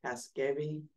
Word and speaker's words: Casgevy: So on December 8th, the FDA had a press release about, I guess it's pronounced Casgevy, which is one of these therapies from Vertex about sickle cell disease.